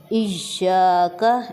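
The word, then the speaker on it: إياك: سے ہم دیکھیں کہ یہاں پر ہمارے پاس یا پر شد ہے، تو اس کا مطلب کیا ہوا کہ ہم یہاں پر زور دے کر بولیں گے، ایاک، ایاک نہیں کہنا، ہم یہاں پہ ایاک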